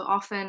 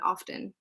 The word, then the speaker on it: often: So often and often are both correct ways of saying this word. Traditionally, we would have said often, especially in British English, but now many people pronounce the T and they say often, and both of these are correct.